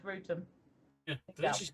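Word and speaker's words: Wrotham: It is almost because of but yeah, Rutum. But people would think it's Rotham, but it's not. It's Rutum.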